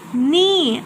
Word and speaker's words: knee: Knee. I'm not pronouncing K.